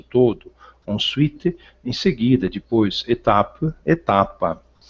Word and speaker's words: étape: Étape, etapa. Observar que é final em francês não se pronuncia, existe graficamente, mas não existe foneticamente. Então eu vou até a consoante final anterior.